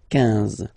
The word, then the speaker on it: quinze: Same thing here, U doesn't exist, so quinze, quinze, quinze, alright? IN, nasal, so it's un, quinze, quinze, okay?